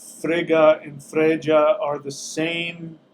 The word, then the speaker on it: Frigga: on topic so Frigga Frigga is the norse pronunciation of the goddess the queen of the universe right so that's usually